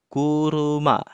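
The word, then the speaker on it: 車: Nah, contoh yang pertama, ketika kanji mobil berdiri sendiri seperti ini, dia akan dibaca kuruma, bacanya kunyomi. Artinya mobil.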